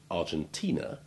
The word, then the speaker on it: Argentina: Remember too that the name of the country from which the Argentine wine comes, Argentina, has the long I3 sound, not the long I1 of the adjective.